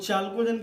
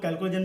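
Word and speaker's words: chalcogen: कुछ लैंग्वेज में इसको लोग कैल्कोजन भी कहते हैं, जैसा कि आप जनरल इंग्लिश के रूल जानते ही होंगे। नाउंस का प्रोनाउंसिएशन अपना अपना डिफरेंट होता है, तो कुछ लोग इसको चाल्कोजन कहते हैं और कुछ लोग इसको कैल्कोजन कहते हैं।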